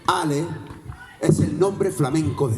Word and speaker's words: Allah: Pero en Al-Ándalus la A se pronunciaba con imela. La imela es tender a pronunciarla como una E. Así que no digan Allah, digan L. Ala, ole, L, Ale es el nombre flamenco de Dios.